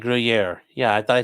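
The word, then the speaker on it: Gruyère: Gruyere is pronounced like Gruyere.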